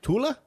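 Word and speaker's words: Thale: her name right uh it's t-h-a-l-e and I think they were saying uh Tula yeah so she's 17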